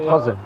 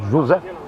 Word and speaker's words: José: Everybody says my name wrong because I'm not Jose. Jose is Argentinian. I'm not Argentinian. Everybody calls me Jose. I'm not Jose. I'm Jose.